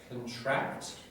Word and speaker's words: contract: So, your verb will have the second syllable stress. Contract. Contract. Now. So that follows a general pattern, doesn't it? Where you have a lot of these sorts of words in English. You have the noun and the verb form. They look the same. Usually the noun has the front stress, first syllable stress.